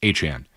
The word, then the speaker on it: Etienne: He's signed with the Saints, and he says, hey, it's basically good to be back home where everybody's going to pronounce my name correctly because it's Travis Achan.